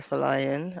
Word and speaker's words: Folayan: dr nikkei oh gosh okay so i'm for lion i know it's spelled but my name was um came